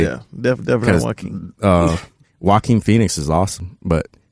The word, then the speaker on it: Joaquin: Yeah, definitely Joaquin.